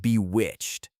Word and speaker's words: bewitched: Let's look at the word bewitched. The stress is on the second syllable, B-W-C-H-A-D.